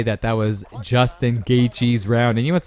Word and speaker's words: Gaethje: Because some people say Gaethje and they totally forget about the TH in the name. Or is it just Gaethje? You're just reading it how it sounds, you know what I mean? Or how it's spelled.